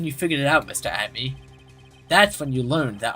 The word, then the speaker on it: Atmey: Look at me, Luke Atmey are the same. Yeah, it pretty much, it's pronounced the same way, just spelled differently.